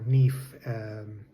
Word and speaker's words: NIF: The first thing you're going to need is a NIF, or NIF, as it's pronounced here, your tax ID number, your personal tax ID number, to be able to get the ball rolling.